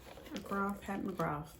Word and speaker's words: Pat McGrath: Pat McGrath, that's how you say it.